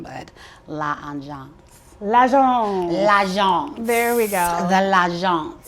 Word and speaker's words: L'Agence: So my jacket and my pants are, you might need to help me with the pronunciation, but L'Agence. L'Agence. L'Agence.